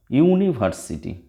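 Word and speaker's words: university: আবার ইউনিভার্সিটি, এটা দেখো ইউনিভার্সিটি, ইউ, ইউ, ইউ এর মতো উচ্চারণ হচ্ছে, অর্থাৎ ইউ বা ওয়া হলে অ্যানের পরিবর্তে এ হয়, এ ইউনিভার্সিটি।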